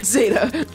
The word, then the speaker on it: zeta: then generation Zeta 18 Zeta that's how the British say it wo H wow inter